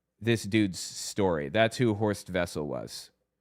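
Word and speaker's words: Horst Wessel: That's who Hoor Vessel was. H O R S T W S E L, but of course W's are pronounced like V's in German. So it's Ho Vessel.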